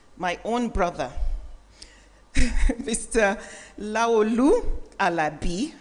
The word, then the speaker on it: Alabi: Laolu Alabi. See how I even emphasize the Alabi? I said it right.